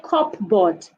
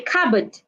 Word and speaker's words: cupboard: Do not say cupboard. Say cupboard, cupboard.